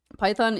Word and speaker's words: Pythion: Python is a support. I know it's Pythion. It's easier to just say Python. Please, no extra syllables.